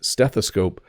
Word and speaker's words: stethoscope: to spell it because if you listen steth ascope it it almost sounds like it has the letter a in it but it doesn't it's stethoscope but it is an O So a stethoscope something